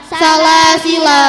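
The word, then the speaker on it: سلاسلا: Salasila yang kedua dibaca pendek.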